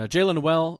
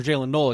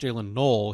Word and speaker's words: Jaylen Noel: and Jaylen Noel or Jaylen Null, excuse me, goes uh spelled Noel, but I think it's pronounced Jaylen Null.